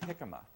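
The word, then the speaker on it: jicama: disc and take an 8 O piece of hikma and this is peeled so you want to have the peeled weight and hikma is spelled j i c m a if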